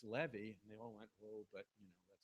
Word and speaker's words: Levy: to tell you but You' were pronouncing his name wrong and it's Levy they all went oh